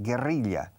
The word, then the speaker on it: guerrilla: Guerrilla, curiosamente, en inglés se dice igual, se escribe igual, guerrilla, doble L al final y doble R en medio, pero se pronuncia guerrilla, se pronuncia igual que gorila.